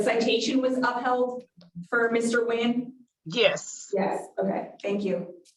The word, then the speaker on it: Nguyen: I think that last name might be pronounced Win.